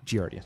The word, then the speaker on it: giardia: and slide show i'm sorry how do you pronounce it giardia giardia thank you um uh also known as beaver